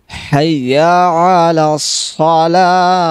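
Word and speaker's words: حي على الصلاة: দেখেন আমি আবার বলছি হাইয়া আলা সলাহ, বড় হা এখানে উচ্চারণ করতে হবে।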